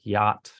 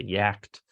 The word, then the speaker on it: yacht: So like when they're trying to read complex words like yacht, right? They'll say yacht. They'll start to revert back to kind of, as we're learning language, some of the difficulties pronouncing those irregular words.